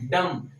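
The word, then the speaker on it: dumb: ठीक है, तो डम, तो जो हमारे बी है क्या है, इसका प्रोनाउंसिएशन नहीं हो रहा, उसका वो क्या है हमारा साइलेंट हो रहा है।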